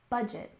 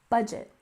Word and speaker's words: budget: and next we have budget with a stress on the first syllable budget budget so a budget is